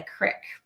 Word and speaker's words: Crick: And you grew up in a place we knew of as the Crick. Correct. And it's not the creek, it's the crick.